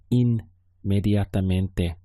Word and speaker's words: inmediatamente: Notice the word for immediately. In English, we have this double M, whereas in Spanish it's I-N-M, so it's inmediatamente. Slight little difference in the pronunciation there.